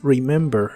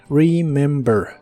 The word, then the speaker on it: remember: presente de inglés es remember la primera e se pronuncia como I remember remember en el presente